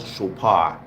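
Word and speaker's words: Chopard: sswat is called chopar it's spelled Chad Chad but it's called chopar so it's um with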